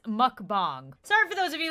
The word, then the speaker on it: mukbang: happen okay never mind I just looked it up and it says it's pronounced mukbang sorry for those of